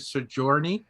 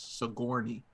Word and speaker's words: Sigourney: her name wrong for Sigourney 27 Weaver. years. Yeah, I always said Sojourner. Uh, And it wasn't until this year that I was corrected for the first time in my life, and it's Sigourney.